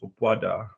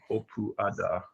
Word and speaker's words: Opuada: The pronunciation is Opuada, Opuada. Wada.